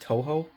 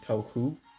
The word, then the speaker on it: Touhou: my other my hot water vlogs is apparently pronounced Touhou project the Touhou project T oh you H oh you I was pronouncing tofu Vegas is Toho so anyways that's what I'm